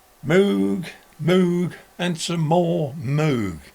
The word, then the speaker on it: Moog: Moog, Moog, and some more Moog. Moog. Moog. Poo is spelt with two O's. P-O-O says poo, not po.